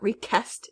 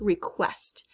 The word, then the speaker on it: request: And when we say this word, request, we hear the qu, right? The QU, not as just a k. It's not request, it's request.